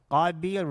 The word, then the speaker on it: Qabil: So Qabil rhymes with the word qatil.